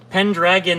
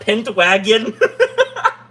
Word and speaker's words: Pendragon: Pendragon, not Pentwagon.